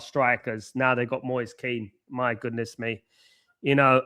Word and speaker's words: Kean: But Moyes Keane. Yeah. Although it's spelled different.